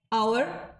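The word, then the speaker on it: hour: हैं you know as the initial consonant H इज not pronounced जो initial में यह कॉन्सोनेंट है जो ए ई आई ओ यू के अलावा जो अल्फाबेट्स होंगे वह कॉन्सोनेंट होते हैं यह क्लियर होगा आपको तो यह जो कॉन्सोनेंट है ये यहां पर प्रोनाउंस नहीं हो रहे हैं लाइक आवर तो यहां पर एच तो नहीं आया हाव तो नहीं बोला नेस्ट तो नहीं बोला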